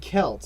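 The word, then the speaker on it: Celts: And you said Kelts and you live in New England. Thank you for the hard C in that word.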